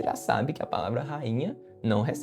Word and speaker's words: rainha: Só não vai acontecer essa regra do iato se você tiver um nh logo na sílaba da frente, como por exemplo na palavra rainha. Rainha, nós temos o rainha. Veja que o i ele vai estar sozinho na sílaba, mas por ser seguido de NH há um processo chamado de nasalização que vai tirar essa tonicidade forte eh do acento gráfico que ocorreria, né?